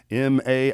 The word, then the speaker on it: Madeley: promote the show, and I'll put MAID-LEE, and and that's how you pronounce it, and it's still Madeley.